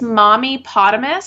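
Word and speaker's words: MommyPotamus: It's Mommy Potamus, so like hippopotamus, but Mommy at the front.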